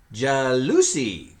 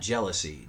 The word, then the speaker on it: jalousie: Jalousie. Not jealousy. Jalousie.